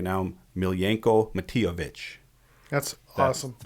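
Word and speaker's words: Miljenko Matijević: And I'm going to say the guy's name right now, Miljenko Matijevic. That's awesome.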